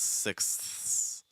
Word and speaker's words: sixths: You have to make sure the TH is clear enough before you do the S sound. Otherwise, your listener's not going to hear it, and it's going to sound like a list, like sixths. But no, it's sixths, sixths.